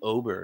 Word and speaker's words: Ober: let's move on here let's talk about Bailey Ober is how as I believe how I say